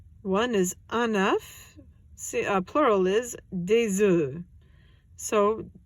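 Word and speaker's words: œufs: is enough plural is De Zoo so when it becomes plural both the F and the S become silent don't know why just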